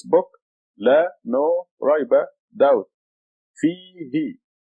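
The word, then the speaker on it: فيه: Fihi. See the letter fa with a kasra, fi. And then the ya after the fa makes it a long fihi.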